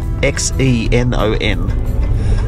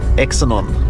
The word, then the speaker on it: xenon: there was no idea what is the element x-e-n-o-n and Justine was calling it exonon I said how do you pronounce this belt well that's what I said